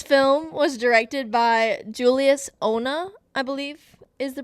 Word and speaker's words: Onah: This film was directed by Julius Onah, I believe is the pronunciation of the last name.